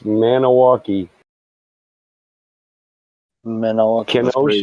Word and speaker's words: Milwaukee: You got Milwaukee. Yeah, that's Potawatomi for rich and beautiful land. And it would be Maniwaki. It should be pronounced Maniwaki.